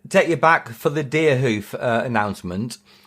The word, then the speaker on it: Deerhoof: you back for the Deerhoof announcement. It's Deerhoof with a double O. Let me just amend that. So, That's what I thought. Yeah, the Americans pronounce it hoof. Oh, yeah, that's how you say it.